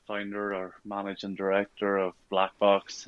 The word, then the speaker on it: BLK Box: I am absolutely delighted to be joined today by Greg Bradley, who is the founder and managing director of Black Box, or BLK Box as it's spelt.